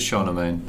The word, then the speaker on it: Charlemagne: It's 800 Charman Charman. So it is Charlemagne.